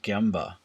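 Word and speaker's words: gemba: Ohno famously used to find a place in the, I believe it's pronounced Gyamba, which is the factory floor effectively, where you could watch everything.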